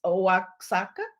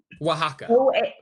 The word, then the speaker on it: Oaxaca: I'm not that familiar with how to pronounce it, but it's Oaxaca. Oaxaca. Oaxaca.